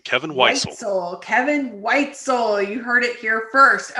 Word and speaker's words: Weitzel: kevin from outhouse kevin tell me how to pronounce your last name so i say it right it's white soul kevin white so kevin weitzel you heard it here first okay so tell